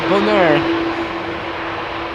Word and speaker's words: Bonaire: It's a bit like how you pronounce hyacinth bucket like bouquet. Yeah. This is not Bonaire but Bonaire.